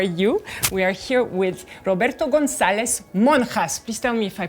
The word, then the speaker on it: Roberto González-Monjas: We are here with Roberto Gonzalez Monas. Please tell me if I pronounce it correctly.